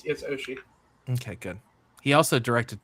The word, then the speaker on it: Oshii: Oh, yeah, no, it's Oshii.